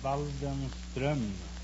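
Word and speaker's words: Waldenström: No, it's an umlaut from the O. In Sweden, you pronounce the name Waldenstrom.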